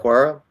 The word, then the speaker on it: Okwara: How we pronounce his name again? But Okwara?